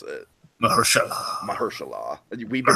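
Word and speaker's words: Mahershala: Mersa by the way Dragon that's how you pronounce it mahalah mahalah we've been pronouncing it long wrong for like wait so it's it's not Mersa it's mahalah yeah mahalah right yeah Mersa okay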